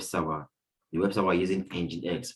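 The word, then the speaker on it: nginx: be the web server the website while using engine x pronounced as engine x right so we also have men administration which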